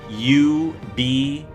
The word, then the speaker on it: ube: U-B-E as in Edward. Ube is how it's pronounced.